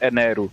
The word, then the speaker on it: Enel: que é de luz, mas é que o R no R no final eles tipo se pronuncia como se fosse uma sílaba fechada de ru r o aí por isso que eles chamam de enero.